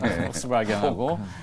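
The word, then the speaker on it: Volkswagen: 뭐 유럽에 이제 V로 시작하는 V인데 독일어 발음은 F음이 나죠. 네. 얘기하셔도 돼요. 네, 폭스바겐하고 스텔란티스 이런 회사들하고 접촉을 하는 모양이더라고요.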